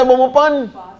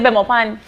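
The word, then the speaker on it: Belmopan: Everybody say Bomopan. Everybody say Bomopan. You see right, people? Yeah. He said Bemopan.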